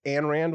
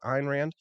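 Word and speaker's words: Ayn Rand: but you know what Judge Napolitano calls for Ein Rand uh it calls her and Rand when her name is really Ein Rand and so he's got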